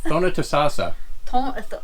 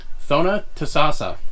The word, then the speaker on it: Thonotosassa: No one can pronounce it. Thonotosassa. Who? Thonotosassa. Thonotosassa. Thonotosassa. Thonotosassa. Sounds like Sassanek.